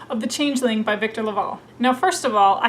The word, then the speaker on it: LaValle: I kept saying Victor LaValle. I live in Texas and I was reading his last name with the Spanish double L pronunciation. That is not correct, it's Victor LaValle.